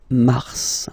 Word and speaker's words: mars: so any a way it's an exception because normally final s is not pronounced in French okay we've got some